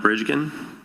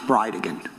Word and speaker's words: Bridegan: It's Jared Gallen Bridgen. And I'll represent to you that it's pronounced Bridean.